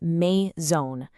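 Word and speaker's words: maison: The correct way to say it is may zone. Did you catch that nasal sound at the end? The on becomes that on sound. That's a perfect use of rule number three.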